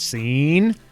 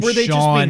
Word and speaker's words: Sean: Scene is how you pronounce his name. Who says that? That's really a thing? I got it a lot growing up. And I'm like, okay. I know the name Sean has stupid? been... No. Well, sometimes it was my friends just being like, that's what I'm saying. Okay. Your name's Scene. But sometimes it was legit people just not knowing how to pronounce it.